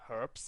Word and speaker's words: herb: dark storage area for herbs and everything yes I just said herbs because I don't care if you pronounce it without an age herb herb whatever who